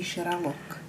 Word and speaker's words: žralok: That's a žralok. Žralok? Žralok. Žralok. You heard it from my wife. This is žralok.